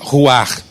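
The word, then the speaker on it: רוּחַ: que o espírito o ruah de Deus você sabe que a palavra espírito no antigo testamento é tradução de uma palavra Hebraica que se pronuncia Who are que não é uma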